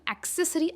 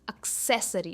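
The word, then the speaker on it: accessory: इसे हम एक्सेसरी actually नहीं कहते। ये जो ए है ये अ का प्रोनंसिएशन लेता है। इट इज़ एक्सेसरी और सह पर इसका स्ट्रेस है।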